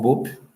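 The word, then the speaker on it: Bopp: que é o Raul bop né a pronúncia bop que é descendente de alemão escreve Cobra Norato que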